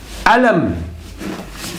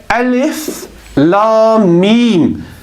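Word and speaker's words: الم: we do not say Alem we do not pronounce it Alem because Alam in Arabic has a different meaning it means pain but we say alif la meme we pronounce them separately so as we mentioned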